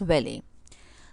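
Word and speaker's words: valet: is very not valid t is silent in it so we will pronounce it as welly the meaning of valley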